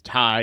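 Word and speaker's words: Tigh: Call Saul and then his last name is Tai and it's spelled t i g h but I always just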